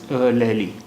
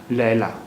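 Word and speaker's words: لیلیٰ: This word will be pronounced as Laila. It won't be pronounced as Laili, because there is khada alif over choti la, so it will be pronounced as Laila, and not Laili.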